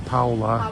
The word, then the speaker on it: Paola: They pronounce her name Paula.